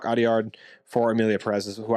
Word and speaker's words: Audiard: I'll still say Jacques Adelard. Sorry, I'm mispronouncing his name. Jacques Audiard for Emilia Perez is who I think they're going to pick.